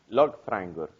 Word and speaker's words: lögfræðingur: So correctly so, if I pronounce the whole word, it's lögfræðingur. But when I say that, people smile, like. Yeah. But when they get back, it sounds a lot more like lögfræðingur.